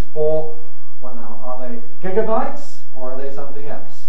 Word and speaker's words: gigabyte: is not altogether clear the spelling might indicate gigabytes or gigabytes or even gigabytes indeed the word gigantic gives such support to gigabyte so i go gave